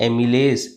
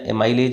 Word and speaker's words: amylase: क्या बोलते हैं इसको, एमिलेज, एमिलेज या एमाइलेज भी लिखा रहता है कहीं, ठीक है, एमाइलेज भी लिखा रहता है।